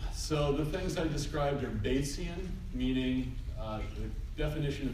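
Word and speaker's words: Batesian: for classes to pronounce this is not beian it's named after a guy named Henry Bates so it's basian or muan named after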